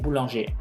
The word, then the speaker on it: boulanger: Entonces, por favor, tampoco me los vayan a pronunciar. Y infirmier, policier, premier, boulanger.